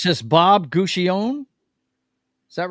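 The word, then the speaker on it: Guccione: How do you pronounce this Bob Guion? Is that right? Gucci Guion. Okay. So the E is pronounced at the end of it.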